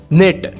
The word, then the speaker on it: knit: निट, KNIT, निट यानी बुनना, second form भी इसका निट है, थर्ड फॉर्म भी इसका निट है, KNIT, निट, निट, निट, के यहाँ पर साइलेंट रहता है।